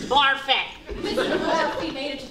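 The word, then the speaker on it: Barfée: Barfy. It is still pronounced Barfet.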